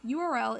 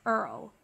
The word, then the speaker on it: URL: the structure of a URL don't know what a URL is well first of all URL is pronounced by its individual letters and not like Earl unlike this guy and